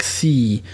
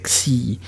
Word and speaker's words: xi: It's pronounced xi with a very, very short x, and it sounds, you know, almost like ecstasy without the e at the beginning or the ta in the middle. So it's xi, and this letter is